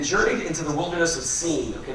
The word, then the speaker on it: Sin: Into the Wilderness of scene okay this is not sin and it's it's spelled s-i-n it doesn't mean sin like you have in the Bible it's just the name for that area and so they're traveling